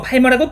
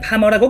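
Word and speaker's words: Palmer: 이름의 스펠링이 팔머인 관계로 팔머라고 부르는 분들도 계시지만 실제 발음은 파머라고 부르고 있기 때문에 콜 파머가 맞는 표현입니다.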